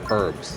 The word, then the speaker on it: herbs: People say herbs. They spell the whole word or they pronounce the whole word.